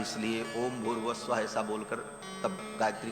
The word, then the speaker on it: भूर्भुवः स्वः: विसर्ग को र हो करके और फिर वो र ऊपर चला जाता है तो भूर्भुवः स्वः ऐसा उच्चारण होता है।